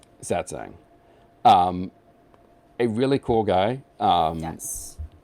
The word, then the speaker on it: Satsang: And this week's episode, I can never pronounce it correctly. Satsang? Satsang. Easy for you to say. Satsang.